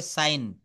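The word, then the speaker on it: sign: যেমন এস আই জি এন এটা হবে সাইন সাজিন বলা যাবে না জি এর উচ্চারণটা করা যাবে না ডি ই এস আই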